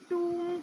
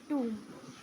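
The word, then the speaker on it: tomb: में गुंबद कहते हैं इंग्लिश में इसको हम टूम कहते हैं टूम य एम बी साइलेंट है बेटा टूम कहते इसको टम नहीं कहेंगे इसको ठीक है बेटा आगे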